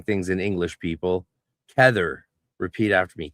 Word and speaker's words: Kether: But yeah, in English it's pronounced trmius. Never be shy of saying things in English, people. Tether. Repeat after me. Tether.